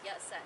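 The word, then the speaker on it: Yat-sen: sun wood and when and cantonese are pronounced as yet sen so we have sun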